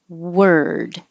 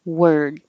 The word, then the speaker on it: word: house with boards board now this one number four looks like or but sounds like er word so on a ward you keep your lips rounded the whole time a ward but for number four you round for the W were and then you come back word and hold the D I forgot to put